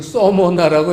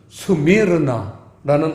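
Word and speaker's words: Σμύρνα: 그래서 스미르나, 그걸 우리는 서머나라고 이제 그 발음 표기를 서머나라고 표기했지만 사실은 스미르나라는 뜻입니다.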